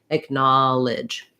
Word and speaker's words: acknowledge: acknowledge and then lastly the end of knowledge looks like the word ledge that has the red tent vowel but it actually has uh this is incorrect not an e but an if and actually has the the higher if vowel like in it and so um and